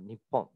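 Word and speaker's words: 日本: And for Japan, they chose the name Nippon or Nihon, which literally means Nich or Ni literally means sun, and Hon, or in this pronunciation, Pon, but Hon literally means base.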